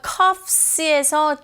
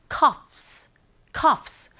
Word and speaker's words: coughs: 자, 여기서 coughs에서 GH는 묵음이에요. 그래서 coughs. 근데 사실상 GH가 아예 소리가 안 들리는 것이 아니라 coughs. 약간 프 발음처럼 들릴 수 있는 거죠.